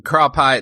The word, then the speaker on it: crappie: it's crop i yeah i'm crop i that's that's how we pronounce crappy in indiana yeah go out